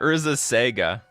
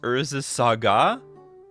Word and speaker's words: Urza's Saga: Saga? Is that how it's supposed to, is that how it's supposed to be pronounced? Urza Saga? That is just like, that's a bit weird to me, but I think that's what people tell me. You're supposed to pronounce it Saga.